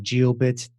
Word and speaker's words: Jiobit: sites please go on gio bit calm it's spelled what some of this j i/o be IT calm so gio bits it's the